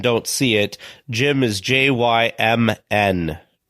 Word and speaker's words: Jymn: As they used to say, the P is silent, like in swimming.